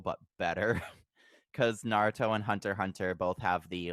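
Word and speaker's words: Hunter × Hunter: hunter the 2011 series it's technically pronounced just hunter hunter but there's an X in there yeah but like I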